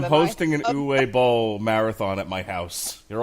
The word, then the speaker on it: Uwe Boll: Seriously, you're mispronouncing it. Bowl. Uwe Bowl. Uwe. Sorry. Uwe. Uwe. Uwe.